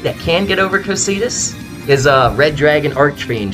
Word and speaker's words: Cocytus: It's invoked Cocytus, I believe is the correct pronunciation.